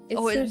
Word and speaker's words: Circe: Her name is pronounced Circe. I could be wrong. Hold on. What? But isn't the Greek goddess also named Cirque? Yeah, it's Circe from... Yeah, hold on. Circe? What? Yeah, it is Circe.